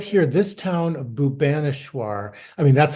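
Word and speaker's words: Bhubaneswar: It's just right here, this town of Bubaneswar. I mean, that's how we pronounce it. They pronounce it Buneswar. Buneswar.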